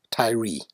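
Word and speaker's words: Tyre: Solomon's Temple built by King hyam of Ty pronounced Tye by Americans buildings 1 2 and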